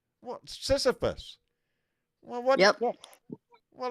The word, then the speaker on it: Sisyphus: Sisyphus. What? Sisyphus. Well, what? Yep. Yes. Well, that's what I was saying. Most people say sissy, not sissa.